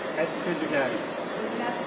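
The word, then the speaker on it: Pizzigati: That's Pizzigaty. You have to spell it. P is in Peter, I-Z-Z-I-G-A-T-I. Pizzigaty.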